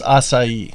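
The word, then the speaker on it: açaí: and went to end I all had some acai bowls drank they have that's how you pronounce it is acai you have this to see with a little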